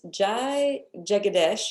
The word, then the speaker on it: Jai Jagadesh: It's Jai Jagadesh is how I say her name.